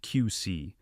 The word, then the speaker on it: QSIE: As I had never seen before, Bryce's new system, quantified strategic impact and engagement, QSIE, pronounced QC, because of course it had to sound like a Silicon Valley vitamin supplement.